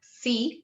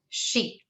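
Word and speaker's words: し: So this is not C, but she. She.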